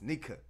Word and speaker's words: Nika: It's not nigga. It's Nika.